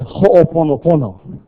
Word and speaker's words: Ho'oponopono: It's Ho'oponopono.